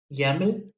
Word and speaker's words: YAML: a normal markup language yaml rhymes with the english word camel yaml is a very